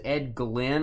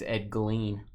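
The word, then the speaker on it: Edgleen: Uh, somebody said it was Ed Glenn. I've never seen Glenn spelled with two e. I think it's Ed Glean.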